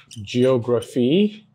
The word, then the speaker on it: geography: Now if the word ends with the suffix, and what's the suffix? PHY is the suffix, then the main or primary stress falls on antepenultimate syllable, that's third to the last syllable.